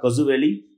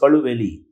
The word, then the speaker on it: Kalu Valley: Friends, it is not Kazu Valley, it is Kalu Valley.